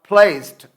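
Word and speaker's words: placed: यानी फर्स्ट जो वर्ड है प्लेस्ड, डाल डी पड़ा हुआ है, लेकिन जब इसकी प्रोनाउंस करेंगे आप लोग तो सही प्रोनाउंसिएशन होगा इसका प्लेस्ड, यानी हल्की सी ठे की आवाज़ देंगे।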